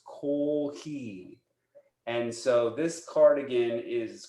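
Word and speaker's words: コーヒー: It's cardigans, except this is how they get to it is that in Japanese, coffee is pronounced kohi.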